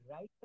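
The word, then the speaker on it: write: তো এই রাইটটা কিন্তু আমরা ডাব্লিউ বাদ দিয়ে এই আর থেকে আমরা শুরু করি। আর থেকে কিন্তু আমরা বলা শুরু করি রাইট, রাইট।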